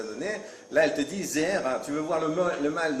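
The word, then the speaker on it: זרע: On l'appelle Zera. Zera, ça s'écrit Zain, Resh, Ain.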